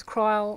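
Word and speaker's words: Krile: I know it's cry. I prefer the sound of creel. Cryle sounds weird.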